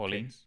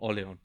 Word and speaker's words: Orléans: Orleans? Orleans? No, it's not that. Orléans. Orléans. It's a French name.